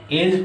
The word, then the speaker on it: edge: उसी प्रकार अगर कह दिया जाए EDGE, एज पढ़ते हैं, एड्ज नहीं पढ़ते हैं, एज मतलब किनारा।